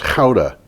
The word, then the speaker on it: Gouda: The cheese is not Gouda, it's Gouda.